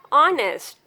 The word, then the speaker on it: honest: A few words start with a silent H. Honest, hour, honor, air.